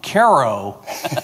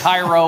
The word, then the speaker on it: Cairo: Uh thank you for correctly pronouncing my hometown Caro, Illinois correctly. So many people get Cairo or Cairo or whatever.